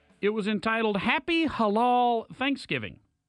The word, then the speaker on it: halal: this Thursday is probably Halal if it's or if I were to say it properly because it hurts my throat Halal if it's a Butterball